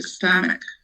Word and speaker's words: stomach: And the other one is with schwa. So stomach. And not with an A.